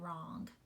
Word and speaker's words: wrong: When we look at the letter pair WR, which letter is silent in WR? Which letter do you not hear in the words right, wrote, and wrong? Yes, it is the W, right? We do not hear that W.